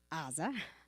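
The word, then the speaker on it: עזה: piece of land in Gaza or as Brock likes to remind me properly pronounced Aza and they evacuated or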